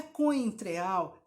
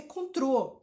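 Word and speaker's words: Cointreau: Não é cointreal, é contrô. Então, escreve lá no seu papelzinho contrô, simples.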